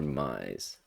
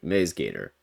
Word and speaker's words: MaizeGator: How do you pronounce it? Is it Maze or Mize? Mize, Maze, Mize? Maze. Maze, yeah, so I was right. Maze Gator. So it's just like a silent I here, like a maze.